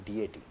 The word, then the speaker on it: deity: Great, دیوی ڈیٹی، DEITY، اس کو ڈائٹی بھی عام طور پر پڑھتے ہیں، اس کا تلفظ ہے صحیح ڈیٹی۔ تو یہ جو گریٹ